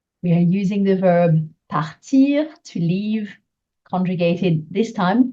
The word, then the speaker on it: part: which is the verb partir. This time you're conjugating it for le train. So let's see how you go with that one. The answer is part, without the T being pronounced.